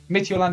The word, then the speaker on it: Midtjylland: Okay, I'll say that from now on. I do like saying Midtjylland though. I'll probably forget it and say Midtjylland. I mean Midtjylland again, but Midtjylland is how you say it.